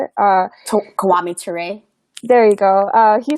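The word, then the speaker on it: Kwame Ture: re is that how you say it uh kiwami toure there you go uh he said it so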